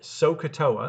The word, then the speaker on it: SOHCAHTOA: If you can remember the word SOHCAHTOA, and that's how it's pronounced, right? There's like three parts to it.